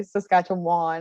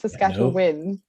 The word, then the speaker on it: Saskatchewan: to correct people here when they say saskatchewan won i'm like no it's saskatchewan win because you always win